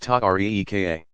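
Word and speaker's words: طريقة: These organizations came to be called tariqas, pronounced ta-reeka.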